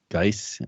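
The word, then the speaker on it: Guice: Geis.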